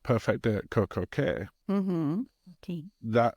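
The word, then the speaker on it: CocoCay: But now when you look at things like Perfect Day at Coco Cay, Mm-hmm. Okay. that, or Key, depending which way you want to pronounce it, that particular day, there's a huge amount of expense to that.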